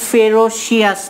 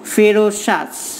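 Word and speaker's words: ferocious: এটার উচ্চারণ ফেরোশিয়াস না, কিন্তু ফেরোশাস, সিআই সমান কিন্তু স, শুধু সি দিয়ে কিন্তু স হবে না।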